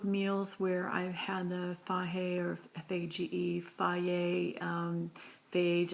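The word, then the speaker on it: Fage: I've heard it pronounced a lot of different things. I'm just going with the pronunciation of someone who told me they were familiar with Greek. Anyway, Faye is, I think, the way they pronounce it.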